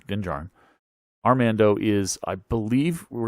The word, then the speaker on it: Din Djarin: One of them is, I believe Armando Din Djarin, again, pronouncing things wrong, Din Djarin.